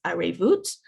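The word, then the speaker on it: ערבות: The Hebrew language word for interdependence is arevut. So we have ayin, which is a silent letter, then the resh, which is a r sound in French, and then the vet, which is the v sound.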